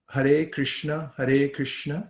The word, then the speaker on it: Hare Krishna: Every word has 2 syllables, and 16 words, 32 syllables.